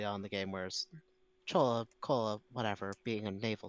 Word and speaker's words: Chola: language, or is it Chola the Tamil kingdom? No, it's the South Indian dynasty. In fact, in Tamil, apparently it's pronounced closer to like Choja.